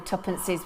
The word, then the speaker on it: tuppence: No, I wasn't around when tuppences were in. Well, oh, he's so cheeky. Tuppence, 2 pence is just a different pronunciation, darling.